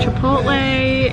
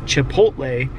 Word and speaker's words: chipotle: in the english language every time you see a ch it is pronounced ch like church or chicken or chicharron even if we're going to the spanish version so why all of a sudden when people see chipotle they decide to make the ch sound